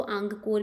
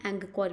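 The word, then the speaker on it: अंगकोर: कुछ लोग इसको आंगकोर भी बोलते हैं, एंगकोर भी सही प्रोनाउंसिएशन है।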